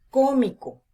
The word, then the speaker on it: cómico: su última sílaba es unión la tercera palabra cómico fíjense que la última sílaba es co la penúltima sílaba es mi